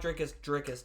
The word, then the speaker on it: Dricus: I like Dricus too. The S is silent, sorry.